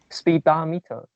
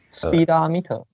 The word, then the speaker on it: speedometer: is pronounced as a speedometer speedometer of okay if you pronounce speedometer means well actually i can hear the stress is on the second but the first syllable also has some degree of stress maybe is the secondary